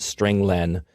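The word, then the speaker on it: strlen: appears at line 9 I pronounce it string Len because it means string length it Returns the number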